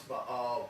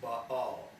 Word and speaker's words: Baal: Many people would pronounce Baal Baal, but it's pronounced Baal.